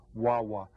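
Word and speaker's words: guagua: a story about this what is a bus called in Puerto Rico WWA W and Gua Gua is how they spell it in Spanish okay now your teacher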